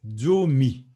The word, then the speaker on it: Zomi: 10, c'est Zomi. Zomi. Zomi. Zomi. Donc, ça se lit, ça s'écrit Z, mais le Z se prononce comme s'il y avait D et Z. Donc, c'est fort.